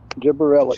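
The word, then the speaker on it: gibberellic: changes the way give us the proper pronunciation slow one time. Is it gibberillic? Yep. Gibberelic. Gibberillic. Gibberelic. Okay. Gibberelic.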